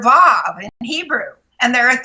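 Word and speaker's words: ו: just type in the letter Vav, which is W-A-W, Vav. It's pronounced with a V, but it's a W, A-W.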